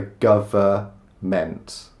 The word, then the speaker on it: government: just call them the government. We don't pronounce the N, it's just government.